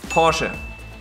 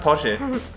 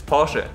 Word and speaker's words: Porsche: The correct way to say it is Porsche. Porsche. So the R is like silent. Porsche. Not Porsche. It's Porsche. Show me the R. Slight difference. It's not Porsche.